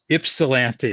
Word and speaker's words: Ypsilanti: I'm sorry, the way you pronounce that. What? You put the Y in there. Ypsilanti.